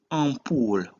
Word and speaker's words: ampoule: In this case, AN is pronounced en, which means a song. Second word is 30, which is 30. In this case, EN is pronounced en. Third word is ampoule, which is like a light bulb.